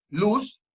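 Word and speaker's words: לוז: palabra hebrea luz que se pronuncia así tal cual luz con z ok y esta fiesta esta palabra hebrea luz significa el árbol de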